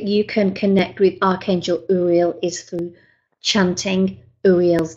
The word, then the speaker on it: Uriel: in two, Re as in real, and L as in elephant. So have a go at that. U-re-l. And what you do is just remember to take a deep breath in. And then as you release the breath, just say Uriel.